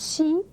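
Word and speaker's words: し: Okay, sa and S and she, and pronounced she, not C. So we need H in it. So S-H-I, and we pronounce she.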